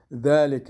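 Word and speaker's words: ذلك: اینجا الف لام میم ذالک الکتاب و ذالک را اگر ذالک بگویم، ذالک امروز ز بگویم غلط میشه معناش، بهتر است ذالک بگویم، ذالک.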